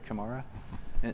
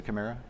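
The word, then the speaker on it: CAMARA: here to TM Forum Kamara I think that's how you say it great Kamara as opposed to Chimera um and in other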